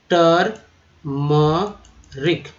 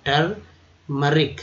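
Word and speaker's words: turmeric: हल्दी, टर्मरिक। देखिए यहाँ जो है यू अ के रूप में उच्चारण किया गया और ई जो है ये भी अ के रूप में उच्चारण किया गया, तो टर्मरिक।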